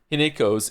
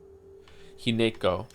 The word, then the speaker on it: Hinako: Hineko. Didn't they say Hinako at some point, though? I remember it being pronounced without the ne.